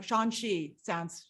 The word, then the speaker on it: Shang-Chi: So, and that's the way they would say it in China, I believe, right? Yeah. Shang-Chi. So, yeah. I think that sounds the best. Personally, it does sound it is the right way to say it.